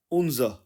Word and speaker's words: unser: German में translate करेंगे तो यह बन जाएगा उज उज और इसके स्पेलिंग बनेंगे इंग्लिश में यू एन एस ई